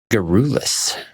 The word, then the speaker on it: garrulous: Today's word is garrulous. Garrulous. It's a difficult word to pronounce.